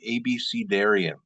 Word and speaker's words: abecedarian: Um, I am going to jump in with patriotic ABCdarian, and can you believe it's pronounced that way? If anyone after this would like to join my petition to have it pronounced abecedarian, you're welcome to.